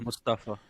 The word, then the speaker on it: Mustafa: It is supposed to be pronounced Mustafa. Mustafa.